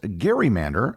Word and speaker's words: gerrymander: They dubbed the monster a gerrymander, which is a portmanteau of Gerry and salamander. The original term was pronounced Gerrymander as it was named after the governor Elbridge Gerry.